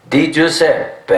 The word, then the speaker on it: Di Giuseppe: Di Giuseppe, hey, what's the matter for you?